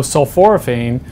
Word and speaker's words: sulforaphane: your talk was about sulforaphane, if I'm saying that right. Explain what that is and exactly what that does in layman's terms, I guess. Yeah, so sulforaphane, you did say it correctly, is a, it's